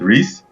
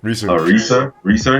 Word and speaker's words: Reaser: Acker and Kenneth Reese. Reeser.